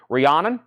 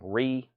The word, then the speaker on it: Rihanna: them a buy now Rihanna Rhiannon Rhiannon well I always butchered her name Ree you gotta say it fast that is 39.99 good